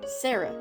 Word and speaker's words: Shara: Shara dreamer was originally Shara dreamer pronounced Sarah dreamer since I wanted to be